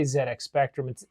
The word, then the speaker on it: ZX Spectrum: Amstrad and the CPC, which competed with the Z, we say ZedX Spectrum. If you look it up on the internet, ZX Spectrum in the UK they pronounce Zed.